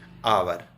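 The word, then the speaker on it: hour: की देती हैं जैसे आवर दत्त को यू आर ए से शुरू हो रहा है जो अपने आप में एक व्यंजन है लेकिन यह साइलेंट है इसकी ध्वनि नहीं आती है हम आवर शब्द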